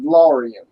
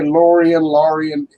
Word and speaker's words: Lorien: What you're trying to pronounce, I call Rangers of Lorien. Lorien, okay. Yeah. Now, some people say Lorien. Either way is fine. Some people say something totally different, and it really doesn't matter because I just made these words up, so that how they're pronounced is no big deal, really.